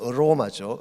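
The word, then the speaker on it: aroma: 이 냄새라고 하는 것은 헬라말을 보게 되면 오스맨이라고 하는 이 냄새라고 번역한 이것이 영어에서는 아로마, 그렇게 번역을 했습니다. 혹은 스멜 그런 뜻이죠. 이 아로마 혹은 영어식 발음은 어로마죠.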